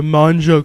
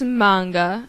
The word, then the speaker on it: manga: you and start a mja club at school it's manga I corrected hard G oh yeah hard huh